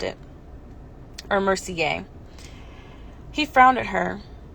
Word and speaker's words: Mercier: to him i'm genevieve mercier she pronounced she pronounced it or mercy gay he frowned at her it's french he gave